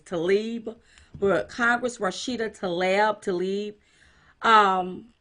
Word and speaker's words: Tlaib: I cannot pronounce her last name. It's Tlaib, but Congress Rashida Tlaib.